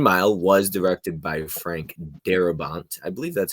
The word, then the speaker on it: Darabont: The Green Mile was directed by Frank Darabont. I believe that's how you pronounce his name.